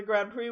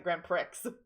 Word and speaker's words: Grand Prix: a picture from the grand prix with me I see I'm pronouncing Grand Prix right I'm not pronouncing Grand pricks get I absolutely would read it Grand Pricks well that's what